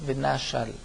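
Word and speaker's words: ונשל: Le Venachal, nous dit Rashi, se prononce comme s'il y avait un Aleph ou un He entre le Nun et le Shin. Venachal.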